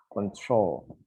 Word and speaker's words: control: This is control, no control. Control. The stress is in the O. Control.